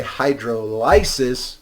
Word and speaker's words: hydrolysis: suggest that you say hydrolysis so you remember you are lysing something by adding a water to it and this huge bunch